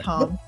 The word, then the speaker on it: Hom: So I thought it was first. That's Hom.